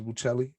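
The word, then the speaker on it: Buccelli: i also knew that two c's actually was pronounced with a ch sound right so i said uh what's up uh mr buchelli he was older guy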